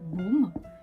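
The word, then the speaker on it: 봄: Ensuite, on a par exemple, comme on est au printemps, baume, qui est le printemps. Donc, baume, c'est une syllabe. On a la consonne pieux, la voyelle O et la consonne M.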